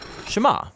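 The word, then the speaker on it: שמע: Now, the first word of the Shema is hear or listen, which in Hebrew is pronounced Shema. That's where the prayer gets its name. Now, Shema is a really common word in the Hebrew Bible, and it's obvious why.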